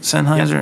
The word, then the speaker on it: Sennheiser: It's the Sennheiser. Is that how you say it? Sennheiser.